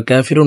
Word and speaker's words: কাফিরুন: আমার সঙ্গে কয়েকবার বললে সূরা কাফিরুন মুখস্ত হয়ে যাবে এবং সহি শুদ্ধ উচ্চারণ হয়ে যাবে।